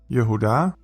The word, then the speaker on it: Yehuda: Yehuda becomes Viuda.